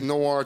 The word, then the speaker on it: noir: Robin, it's noir times. I don't know how do you say that? Noir.